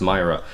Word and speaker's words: Myra: named uh myra west it's funny because i thought it was pronounced mira but i think it's pronounced myra i think if it was an e or i then it's mirror either way um yeah